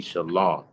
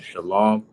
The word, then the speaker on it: shalom: of the word shalom, the proper pronunciation will be shalom, right? There is no wa in the word shalom, right?